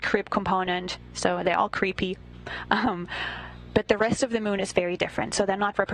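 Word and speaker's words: KREEP: have a weird component that we call creep and it's spelled k re e e p in sense of potassium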